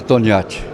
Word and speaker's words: Toniati: Meu nome é Toniati. Toniati. Toniati. Toniati. Como se escreve Toniati?